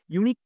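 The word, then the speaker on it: unique: উচ্চারণ করছি তখন এই ইউনিকটা উচ্চারণ হচ্ছে ওয়াই ইউ ওয়াই ইউ এরকম উচ্চারণ হচ্ছে তাই সেই জন্য কি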